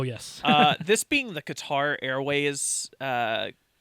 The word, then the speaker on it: Qatar: and then it was guitar rways guitar Grand Prix yeah uh stupid very stupid but it was a guars Grand Prix or sorry cutter I guess is how we're supposed to be pronouncing that we're not going back